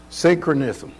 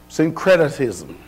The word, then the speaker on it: syncretism: How you pronounce that word? Synchronism. Syncretism.